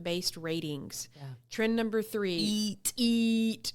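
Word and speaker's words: E-E-A-T: number three eat eat we call it eat it's what is eat it's an algorith not an algorithm an acronym that stands for experience expertise authoritativeness and trustworthiness so it's spelled e e a t experience experience experience yes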